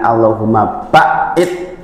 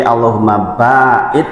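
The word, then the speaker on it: اللهم باعد: kadang pakai yang lain pengucapan juga harus betul ngih jangan allahum baid tapi allahum baid pakai Alif Nggih kalau enggak pakai Alif berubah makna Allahumma baid Ya Allah jauhkan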